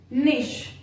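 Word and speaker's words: niche: शिक, गॉश, निश। तो ऐसे बहुत सारे वर्ड्स हैं जहां पर कि CH को शा प्रोनाउंस किया जाता है।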